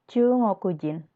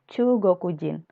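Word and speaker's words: 中国人: Kemudian ada orang Cina, Chungokujin atau Chugokujin. Jadi ada 2 aksen.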